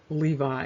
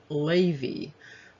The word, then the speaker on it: Levi: into levi now interestingly this name is not actually pronounced levi it looks like it's pronounced lavy and so that's another